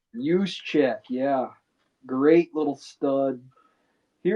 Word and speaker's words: Juszczyk: Use check. Juszczyk, yeah, great little stud.